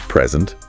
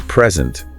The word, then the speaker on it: present: So, for example, the word present. Yeah. If you say present, it's a gift.